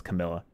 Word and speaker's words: Camilla: I want to say that's Camilla. I almost said it wrong. Not Kamala. That's the vice president.